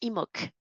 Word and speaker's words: Imbolc: On va passer au rayon d'Imbolc. qu'on prononce Imok.